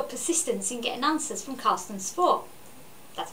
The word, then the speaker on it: Carsten Spohr: What I loved about your coverage of this was your persistence in getting answers from Carsten Spohr. That's how you pronounce it.